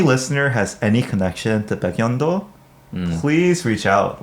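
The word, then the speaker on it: 백령도: I- it's the Korean pronunciation system- Oh … where if the kiuk comes before the ril- Yeah … the kiuk becomes a iyun, iyun. Iyun. Oh, Baekryeongdo. Oh, Baekryeongdo. Baengnyeongdo. Baengnyeongdo Oh.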